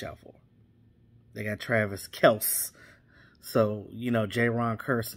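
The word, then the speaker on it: Kelce: wind of these oh it's not kelsey it's kels okay okay so it's it's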